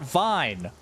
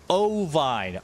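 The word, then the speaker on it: ovine: Not not vine. Oine.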